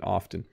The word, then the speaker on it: often: From Fatima, hi Bob, I wonder why you pronounce the word often without T being silent. We were always taught that T has to be silent in often.